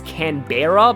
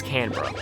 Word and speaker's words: Canberra: always pronounce it as Canberra because that's how it's spelled uh but no uh the like one of the E's is like silent it's K it's Canberra and that Lander will